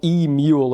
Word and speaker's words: eMule: I'm not sure if you pronounce it like that, but I think you do. Like mule like a donkey. It was like emule. Like just a tiny e.